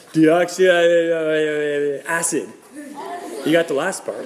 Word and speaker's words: deoxyribonucleic acid: Yeah, DNA is actually an abbreviation for a molecule called deoxyribonucleic acid. We're gonna pronounce it together. Okay, repeat after me. Deoxyribonucleic acid.